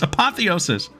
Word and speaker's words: apotheosis: apotheosis apotheosis why am I so scared to pronounce it it's a hard word it's apotheosis Apothecary right um um um where's my guys